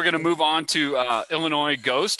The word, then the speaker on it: Illinois: Craig So next we're going to move on to Illinois Ghost. See, I said it right that time. I didn't pronounce it with the S, guys.